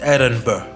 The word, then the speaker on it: Edinburgh: Also, interesting thing, when you spell Edinburgh, there's a G at the end, GH, but the GH is silent, so you're not supposed to pronounce it or have it when you say the word. So it's a silent G, so it's Edinburgh.